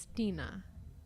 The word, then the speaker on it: Stina: It's Stina Vento.